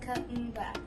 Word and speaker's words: Kuumba: I want to tell you about the 6th principle of Kwanzaa, which is Kuumba. It is pronounced Kuumba.